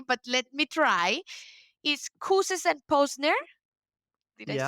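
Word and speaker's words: Kouzes: Is Kuses and Posner? Did I Yeah. say it right? Yeah. Kind Kuz and of. Posner. We sometimes don't pronounce the final two letters, but that's fine. Kuz and Posner.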